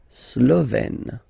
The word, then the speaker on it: Slovène: Slovène. Remember, E accent grave, you open it.